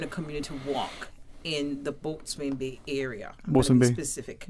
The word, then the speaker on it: boatswain: It's spelled that way. It can be spelled B-O-S-U-N. Boatswain Bay.